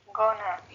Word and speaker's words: gonna: और गोई को हम फ्लक्चुएट नहीं करेंगे, फ्लैट रखेंगे, गौ की आवाज देंगे, गौना gonna, या गौना।